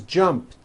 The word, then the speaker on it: jumped: t so jump becomes jumped with a t sound at the end jumped of course the word is spelled with an e d ending it's just pronounced as a t jumped like that the